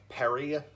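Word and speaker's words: Perri: The name is spelled P-E-R-R-I, or P-E-R-I, so Perry.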